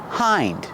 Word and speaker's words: hind: Hind. Hind legs. Like the word behind.